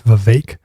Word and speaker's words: Vivek: I always pronounced it Vivek. It is Vivek.